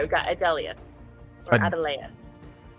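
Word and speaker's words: Adeleas: All right, we've got Adelius. Or Adelaus. Adelaus. Ah, good. Okay. Vandine. Rhymes with sardines.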